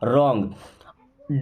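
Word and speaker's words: wrong: है मी मींस मुझे रंग डब्लू के बाद कभी भी अगर आर आ जाए तो डब्लू होगा हमेशा के लिए साइलेंट यानी उसको नहीं पढ़ा जाएगा रंग मीस होता है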